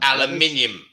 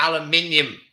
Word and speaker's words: aluminium: Aluminium. Let me spell it out. Because aluminum still has the I in it. It's just not pronounced. Aluminium. The British pronounce the whole thing.